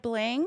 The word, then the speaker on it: bling: not slaying, like rhymes with ring. Dubai bling?